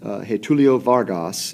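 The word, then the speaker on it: Getúlio Vargas: At the same time, a new presidential race was looming between, I believe it's pronounced, Getulio Vargas and Julio Prestes.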